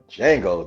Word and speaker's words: Django: So in this movie, the marketing was like, wow, this is, Django, the D is silent.